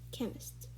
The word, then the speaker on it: chemist: we have is chemist we don't say chemist we say chemist the h is silent the fourth word we